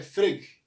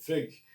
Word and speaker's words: Frege: Primeiro, Gottlob Frege, Bertrand Russell, Frege, acho que é assim que se pronuncia, Frege, Bertrand Russell e Ludwig Wittgenstein.